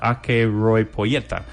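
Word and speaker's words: acheiropoieta: Pues mira, te digo cómo se escribe si quieres, pero básicamente se pronuncia Akeropoieta.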